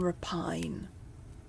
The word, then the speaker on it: rapine: deeds of blood and rapine. Am I pronouncing that right? Repine rape. Rapine. Yeah. Rabin. Raphine. Raphine. Okay. So, the the emphasis is on the first syllable though.